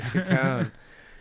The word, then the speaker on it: Chicone: How do you pronounce that? Chicone? Chicone. Chicone.